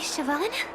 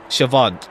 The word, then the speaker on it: Siobhan: how you say her name was Lady Siobhan Siobhan okay I'm just saying it like way too